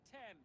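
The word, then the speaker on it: Thames: The wager is ownership of the Tem. Of the Tem, that's how it's pronounced.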